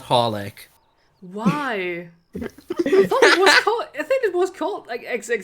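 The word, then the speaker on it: xxxHOLiC: just supposed you're just supposed to pronounce it horlick you don't say any of the three x's why no no i'm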